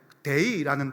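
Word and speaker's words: δεῖ: 이때 마땅하니라라고 번역된 이 단어는 그 그리스 언어에 데이라는 단어가 있습니다. 우리 영어의 데이 말고요, 그리스어의 데이.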